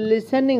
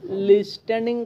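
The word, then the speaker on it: listening: আই এস টি ই এন আই এন জি উচ্চারণ নিয়া এটা লিসেনিং হইবো হ্যাঁ আমরা টি আছে দে লিস্ট্যান্ডিং কইতাম না এল আই এস লিস্ট টি এটা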